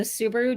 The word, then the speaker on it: Subhah: I mean, when I was younger, so it's like suba is technically how you say it.